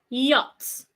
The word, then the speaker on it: yacht: The next sound, love, laugh, school, rich, river, restaurant, window, which, when, yacht. The CH is silent.